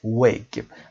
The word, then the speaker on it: wig: تلفظ دقت داشته باشید. wig نمیخونیم، ای کشیده نیست. wig.